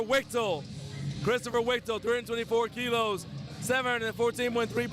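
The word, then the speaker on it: Wichtl: How you say his name? Christopher Wichtel to 14 in. Wichtel? All right, it's Christopher Wichtel.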